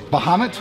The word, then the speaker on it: Bahamut: We got the, how do you pronounce that? Bahamut. Bahamut?